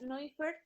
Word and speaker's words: Neufert: Se pronuncia Neufert, se escribe Neufert.